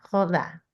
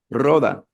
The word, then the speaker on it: roda: Y también Ricky me ayuda con la pronunciación, una, siempre lo digo mal, una joda. ¿Una qué? Es que yo siempre digo esa palabra mal, perdóname. No, Roda, no, no.